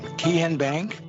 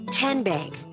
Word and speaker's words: TN Bank: How do you say the name? TN Bank? No. Kin Bank? Uh-uh. So what is it? 10 Bank. 10, as in Tennessee, right here where all our banking decisions are made.